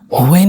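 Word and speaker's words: when: Grammatically देखो डब्ल्यू एच जब भी आए दोस्तों, तो मोस्टली जो होता है ना, एच जो होता है वो साइलेंट होता है, उसका उच्चारण नहीं किया जाता है।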